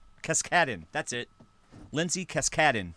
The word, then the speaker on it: Cascaden: No, it's Cascaden. Cascaden. That's it. Lindsay Cascaden, because the emphasis is on the second syllable.